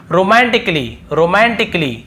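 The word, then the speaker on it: romantically: और फिर देखिए रोमांटिकली, यहाँ पर भी देखिए ए का उच्चारण नहीं हो रहा है।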